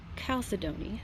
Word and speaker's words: Chalcedony: This is Chalcedony, I believe is how you pronounce it. Some people do the ch instead of the k, so it's however you want to do that.